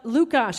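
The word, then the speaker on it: Lukáš: there maybe no it's it's uh lukash it's l-u-k-a-s but it's check it's a Czech name he was born in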